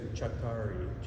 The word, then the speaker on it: Csatari: The pronunciation is Csatari in Hungarian. It means from the battlefront. But when I was growing up in high school, nobody could say Csatari.